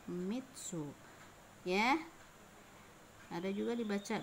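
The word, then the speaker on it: 三つ: tiga kaku tiga penulisan biasanya dalam kurung yummy dibacanya Mitsu ya Hai ada juga dibaca my oh yo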